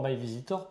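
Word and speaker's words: MyVeasytor: Parce qu'en fait, il y a un petit jeu de mots avec easy.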